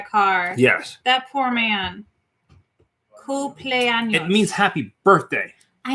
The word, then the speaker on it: cumpleaños: It's the M and the sound. In case you're wondering, that's an AMPL.